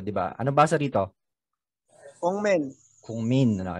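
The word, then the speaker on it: 국민: Ito, ang tawag ng mga Pinoy dito ay Kukmin. Pero, di ba, anong basa dito? Kungmin. Kungmin. Ano? Yun ang tamang bigkas.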